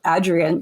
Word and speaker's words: Adrienne: I learned that she's called Adrienne, like the A is in hat, by going to the archives and reading her say in an interview, "You pronounce the A in my name like hat."